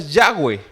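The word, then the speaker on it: Yahvé: en arameo que son cuatro letras que podríamos decir que se pronuncian yagüe y ellos no lo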